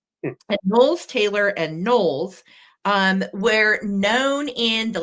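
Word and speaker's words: Knowles: for NES and Taylor and noes as in Beyonce spelled the same way k n o WL s and NES Taylor and nolles um were known in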